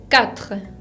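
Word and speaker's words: quatre: agua y la s final que no se pronuncia juan el número cuatro es cat cat la cuco no suena como si fuera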